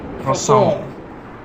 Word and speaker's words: croissant: Because people say croissant, but like the French is like croissant.